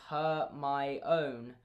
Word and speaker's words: Hermione: Rowling included that passage on how to pronounce Hermione's name in Goblet of Fire just to school all of us who were saying her, my own, like Victor Crumb.